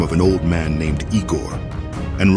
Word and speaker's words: Igor: It's pronounced Igor. Arg.